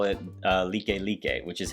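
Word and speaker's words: Likelike: head they have a street out here called like like highway it is not like like highway matter of fact a lot of us locals here we don't even call it uh like lique which is how it's actually pronounced like lique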